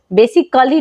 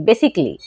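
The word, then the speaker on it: basically: For example बेसिकली यहाँ पर आप देख रहे हैं कि एल एल वाई लास्ट में क्या है, एल एल वाई, तो ए हो जाएगा साइलेंट, मतलब इसको नहीं पढ़ेंगे। तो क्या पढ़ते हैं इस वर्ड को, बेसिकली, बेसिकली नहीं, बेसिकली। ठीक है, सेम वैसे ही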